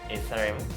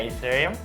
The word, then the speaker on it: Ethereum: Also, the correct pronunciation will be Ethereum. Ethereum? Yeah, Ethereum.